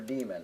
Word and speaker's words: daemon: find this HTTP P the D stands for demon or daemon if you like pronouncing the a in it and here it is